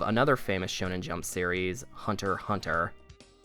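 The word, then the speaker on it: Hunter × Hunter: you may also know mr tagashi as the creator of another famous shonen jump series hunter hunter and yes that is how that title is pronounced and for as good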